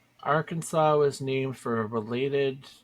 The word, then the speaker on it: Arkansas: weird apparently in 1881 a heated disagreement between the state's two senators one who said AR Kansas and the other who said Arkansas led to a ruling by the state legislature making the Arkansas pronunciation official wow yeah this is